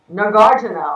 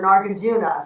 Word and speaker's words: Nagarjuna: both quantum physics and Nagarjuna or Nagarjuna. People pronounce it different ways.